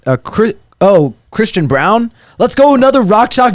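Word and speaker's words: Braun: jayhawk boy let's go brawn bro not brown is it brown it's brown that's how it's brown b-r-a-u-n yeah it's brown yeah i don't know why he pronounces it that way i just know that's how he says it damn that's weird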